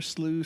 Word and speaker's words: siu: Yeah, Siu. char siu. Siu. Yeah. Okay, I'm sorry. That's So like yeah, that's like SIU is like shoe, but it's the pronunciation is it's Chinese.